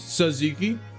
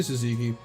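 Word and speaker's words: tzatziki: Do you guys say set Ziki or Suziki? I pronounce all the T's. I say it correctly. I don't know what that is. Saziki. I'm very white though. I say Suziki.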